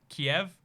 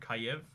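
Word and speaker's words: Kyiv: a hill by the way I call it Kiev I think they want to be called Caillou that's the spelling they want that's the pronunciation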